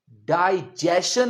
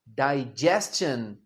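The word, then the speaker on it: digestion: डाइजेशन नहीं, डाइजेशन।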